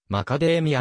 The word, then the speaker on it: マカダミア: 地の母および英語での一般的な発音はマカデミアに近い真壁宮という